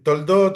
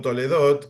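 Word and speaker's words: תולדות: con Abraham Sí bueno toldot o toledot como bien vos mencionabas depende de la pronunciación tiene que ver con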